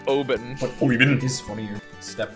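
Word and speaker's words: Obyn: I think it's O-B-Y-N, so it's Oben.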